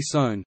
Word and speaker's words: Sohn: S in German is pronounced Z as in zebra, if it forms the syllable onset, e.g. sohn, zo-n, otherwise S, e.g.